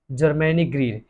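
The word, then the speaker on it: Germaine Greer: और इसकी जो राइटर है जर्मैनी ग्रीर है, जर्मैनी ग्रीर। यही तो बच्चों को उच्चारण नहीं आता है, प्रोनाउंसिएशन।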